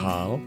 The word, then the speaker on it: Bahal: how do you say your last name Robie bahal bahal yes okay we have Robie bahal on the